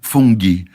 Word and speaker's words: fungi: Fungi é tudo que é em latim e acaba com i. Você faz, por exemplo, campus de universidade, os campos são campi. Olha. Porque tudo que é latim e acaba com i, eles mantêm o latim da palavra, mas pronunciam em inglês. E i para eles numa sílaba sozinha, é ai.